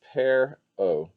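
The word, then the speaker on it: per-aa: a little bit like a fish and is pronounced pear o the word pharaoh which we use for egyptian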